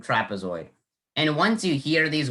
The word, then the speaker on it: trapezoid: and to hardik's question i actually think the e in trapezoid i think it's a schwa sound because it has that little e sound so i think that it's not a short e or a long e i think that's the schwa sound in trapezoid and once you hear